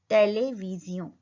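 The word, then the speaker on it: télévision: टीवी को बोलते हैं टेलीविजियों. टेलीविजियों. एस का साउंड ज और ओ एन का साउंड ओ. टेलीविजियों.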